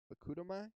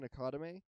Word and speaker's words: Akudama: Akudama? Akudama Drive? I've never realized how to say that first one. I've been saying Akadame, but I don't think that's how you say it.